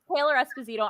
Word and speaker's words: Taylor Esposito: So you're Taylor Esposito.